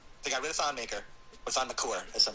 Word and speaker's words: Maker: So the Bucks, they got rid of Thon Maker, or Thon McCour, as some people like to call him. No way, did he have a new... It's apparently the correct pronunciation is McCour, but for me, it's not.